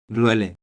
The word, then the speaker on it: duele: Pronunciation tip: pay attention to the subtle stress on the second syllable of. duele.